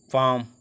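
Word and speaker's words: palm: काम सी ए एल एम काम, half H ए एल F half, पाम पी ए एल एम पाम, इसको L silent रखना है, एल नहीं पढ़ना उसमें।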